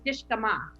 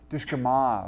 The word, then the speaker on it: Dishgamu: So I want to start off by saying that you're almost there with it's Dishgamu. Dishgamu, okay. It's it's a U on the end, and it's pronounced Okay.